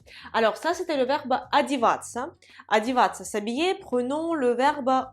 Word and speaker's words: одеваться: Alors, le verbe déjà, c'est одеваться. Одеваться. Ces quatre lettres-là se prononcent ца, ца. Одеваться, одеваться, ца, ца.